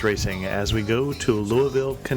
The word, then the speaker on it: Louisville: I I tell people if you want to pronounce it right or the way the natives pronounce it it's Lou and the with an uh in the middle very slight two and a quarter syllables you mock me a